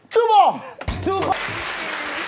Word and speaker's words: Tubo: You can say you can say Tubo. Tubo. Good boy. Let's have the beautiful, delectable, Tubo. Tubo.